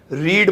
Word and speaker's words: read: आप देखिए spelling READ READ READ तीनों एक जैसी हैं, लेकिन पहली वाली को रीड बोलते हैं और दूसरी और तीसरी